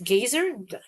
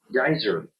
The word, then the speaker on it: geyser: How do you say this? Gazer? I keep forgetting. I know this is like before I can even continue. How do I say this? Geyser.